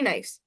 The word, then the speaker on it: knee: Ni have K in it but doesn't have its sound. That's why it's pronounced as Ni only ne E. and the uh and the sound of the letter K is absent in that.